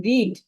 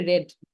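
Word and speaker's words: read: ওকে তাহলে দেখেন রিড আর যখন এটাকে আপনি পাস্ট টেন্স উচ্চারণ করবেন এটার উচ্চারণ কিন্তু হয়ে যাবে রেড হ্যাঁ রেড হয়ে যাবে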